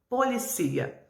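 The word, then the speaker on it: policía: Em português, polícia, mas em espanhol, policia. A sílaba tônica é diferente, apesar de ser praticamente a mesma palavra.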